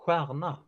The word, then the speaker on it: stjärna: Star would be stjärna.